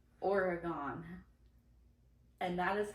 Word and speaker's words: Oregon: The state is pronounced Oregon.